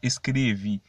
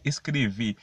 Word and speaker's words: escrever: Et pas escrevi, me veut dire non, c'est escrever, mais escrever. Mais gens qui me prononcent là quand elle sorti, comme si c'est i, mais pas i non, c'est escrever. Escrever.